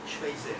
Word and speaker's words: Schweitzer: Charles Schweitzer, perdón, era de Alsacia, Schweitzer, no se tenía que pronunciar a lo alemán.